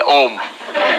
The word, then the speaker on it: Om: more no it's wrong the rules of sanskrit grammar say when you put a and u together it becomes o o so when the